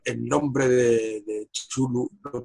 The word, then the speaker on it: Cthulhu: momento en el que pronuncian el nombre de Cthulhu, lo pronuncian Chuntu, y se quedó traumatizado.